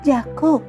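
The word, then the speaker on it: יעקב: En hebreo, el nombre de Jacob se pronuncia Jacob. Suena como la palabra Acab, que significa agarrar el talón o engañar.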